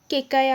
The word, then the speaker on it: কৈকেয়: উত্তর হবে এ কৈকেয়, বা ইংলিশে কেকায়া আছে, তো কৈকেয় বাংলায় উচ্চারণ হলে সেটা কৈকেয় হবে।